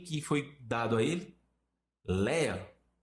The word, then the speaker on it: Léa: Léa, que é Liá, quando você vai na pronúncia judaica.